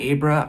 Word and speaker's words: Abra: Kylie Quran is playing a bruh or Abra stone you can pronounce it both ways and cliff Curtis is playing Billie Freeman so this will be a non-spoiler review of dr.